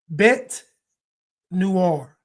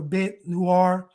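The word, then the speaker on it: bête noire: Bet noir. Not black noir. Bet noir. bete might it might be pronounced bet noir or bet noir but that episode it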